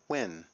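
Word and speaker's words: Nguyen: Um the correct pronunciation for this Vietnamese name is Win, right?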